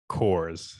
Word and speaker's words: CORS: thing and today's acronym is going to be coors so that's c-o-r-s go ahead take take the